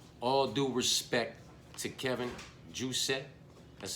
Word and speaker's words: Jousset: You know, with all due respect to Kevin Juicet, that's how you say his name.